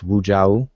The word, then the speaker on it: Wuja: And a lot of people mispronounce it, but it's Wuja.